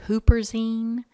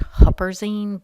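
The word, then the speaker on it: huperzine: to talk about is Hooper Zine you also see it pronounced Hopper Zine but Hooper is the most common way of saying it this is an alkaloid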